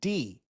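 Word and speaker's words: Dei: Her character is named Dee, but it's spelled D-E-I.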